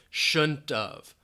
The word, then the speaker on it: shouldn't have: So have almost sounds like of in that case. Shouldn't of.